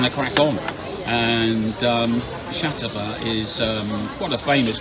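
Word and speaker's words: Xàtiva: we are in shatava and I think that's the way you pronounce it shatava and um we are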